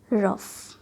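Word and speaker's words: rough: क्या साउंड दे देती है? फ। जैसे रफ, कफ, लफ, एनफ। और कभी ये जी एच साइलेंट भी हो जाती है, जैसे हाई, बॉट, दो।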